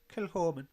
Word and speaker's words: Kilchoman: I think remember I was told for one of the lovely people of Kilchoman, because that's how they say it.